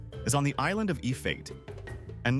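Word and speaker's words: Efate: The capital, Port Vila, is on the island of Ifate. And no, it's not pronounced E-fatty, it's A-fa-te.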